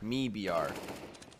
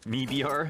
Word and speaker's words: MIBR: like my BR nah me BR me BR me BR you pronounce the Mi and then the BR for Brazil it's like a sounds